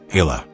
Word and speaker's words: Eala: off the spotlight, but a name few in America have ever pronounced correctly. Hila.